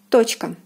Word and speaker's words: точка: Точка, точка, точка. The meaning is dot, and the O is stressed and is pronounced as in the alphabet.